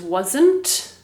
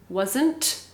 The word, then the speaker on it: wasn't: the correct pronunciation is wasn't wasn't but when we speak in english we speak very fast sometimes we don't pronounce that t wasn't wasn't or it's